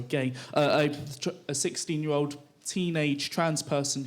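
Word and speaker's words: Ghey: vigil for Brianna Gray, G is pronounced, sorry, Gay, a 16-year-old teenage trans person who died.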